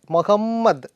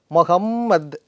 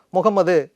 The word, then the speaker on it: மொஹம்மத்: இது இன்னும் உங்களுக்கு சொல்ல போனால், அதே மாதிரி முகம்மது அப்படின்னு நம்ம சொல்கிறோம் இல்லையா, அரபிக்கில் அந்த சவுண்டோட correct pronunciation மொஹம்மத், double M போடுவாங்க சில பேர், மொஹம்மத் அப்படின்னு சொல்லணும், முகம்மது அப்படின்னு சொல்லக்கூடாது.